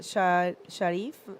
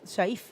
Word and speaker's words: Shaif: Sharif, it has Shaif. Shaif, yeah. Shaif. Yeah. I have to remember to say that pronunciation with a double A.